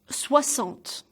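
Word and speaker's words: soixante: psych on SWA salt so the ex is sounds like SS SWAT salt swats on this so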